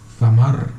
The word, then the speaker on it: zamar: Si no podéis ver el chat, lo estoy tratando de pronunciar tal como suena, fonéticamente zamar, con Z. Callosa sería samar, pero es con Z.